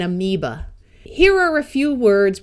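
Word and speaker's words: amoeba: so this is sapena this a will also schwa and amiba here are a few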